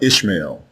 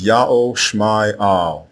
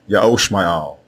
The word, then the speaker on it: Ishmael: The correct way to say the name of Abram's firstborn son is not Ishmael. It is Ya'o Shma'al, Ya'o Shma'al, and it means Ya'o is the God who hears.